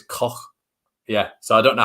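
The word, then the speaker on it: Koch: it i've heard it apparently it's pronounced in sort of a bit of a scouse accent how you put how the germans pronounce it so it's coch yeah so i don't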